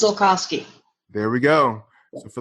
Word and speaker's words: Zulkosky: It is pronounced Zulkosky.